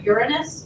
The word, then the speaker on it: Uranus: Yeah, I It's actually pronounced Uranus, by the way.